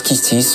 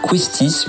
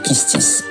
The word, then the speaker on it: Quistis: Et oui, ça se prononce Kistis, on a envie de dire Quistis, mais non, c'est Kistis.